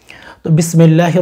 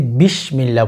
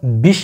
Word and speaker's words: বিসমিল্লাহ: কেমন জানি হয়ে যাচ্ছে তো সেজন্য বিষ বলবেন না বিস সিন উচ্চারণ করবেন আর কি বিসমিল্লাহির রাহমানির